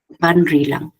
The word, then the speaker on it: Banrilang: If it is ending in, because the last syllable is lang, Banri lang, you will see that it is aligned with a pitch accent wherever the stress syllable is.